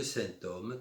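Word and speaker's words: sinthome: Dans la deuxième phase, c'est la fonction de fixation, le symptôme théorisé par Lacan. Symptôme qui s'écrit S-I-N-T-H-O-M-E.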